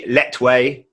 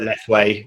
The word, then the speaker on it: Lethwei: It's actually Letwei, but Lethwei is the way the Westerners pronounce it.